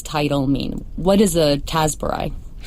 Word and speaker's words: Tasburai: what does this title mean what is a tasar right so am I saying it correctly you